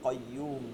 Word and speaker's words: قيوم: قيوم কয়্যুম কয়্যুম, কতে قي- আকার না দিয়া শুধু কয় কয়, قيوم হ্যাঁ কয়্যুম, ঠিক আছে।